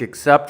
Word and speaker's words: except: I love every type of music except for country music. And the pronunciation is the short I, and then K, ick. And then the second and stressed syllable, sept. Except, except.